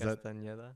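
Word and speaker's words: Castañeda: Is Castaneda. Castaneda. Really? Yeah. Why that? Has like a mustache on the end. Oh, does it have the... It has a little squiggly.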